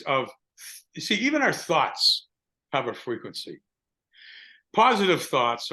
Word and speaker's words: Thoth: But the reversal grid of Thoth, like a lot of people pronounce the Babylonian spirit god Thoth, which is spelled Thoth, but it's pronounced thought.